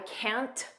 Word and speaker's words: can't: pronunciation I can't notice we don't push out that T I can't just don't push it out I can't make